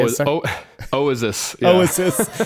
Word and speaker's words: Oizys: Oasis.